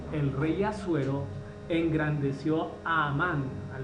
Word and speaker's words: Amán: Dice: después de estas cosas, el rey Asuero engrandeció a Amán, algunos lo pronuncian Hamán, ¿cierto?